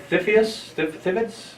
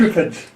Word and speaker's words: Triffids: And is that Thippids? How's that pronounced? Triffids.